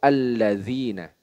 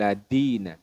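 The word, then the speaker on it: الذين: kata yang kedua yaitu alladzina nah kira-kira Apa kesalahan yang sering terjadi nahb betul sekali yaitu pelafalan huruf Dal huruf Dal Harusnya dalal bukan Dal innalladzina linaina bukan ladina ladina itu kurang Mengapa demikian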